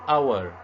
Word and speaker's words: hour: An hour, the H is silent.